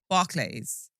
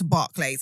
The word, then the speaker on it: Barclays: It's spelt Barclays. And everybody around me is like, it's Barclays. It's Barclays. Brother, it's an A.